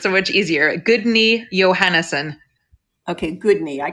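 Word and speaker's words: Guðni: on your leg perfect how would you say that in iceland it with with the accent um with the accent you would say guys which took me months and months to learn okay i guess for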